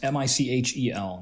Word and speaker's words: Michelle: That's Michel, not Mitchell, not Michael, Michelle.